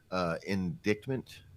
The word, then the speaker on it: indictment: drummer with a felony indictment indictment the sea is silent indictment and the threat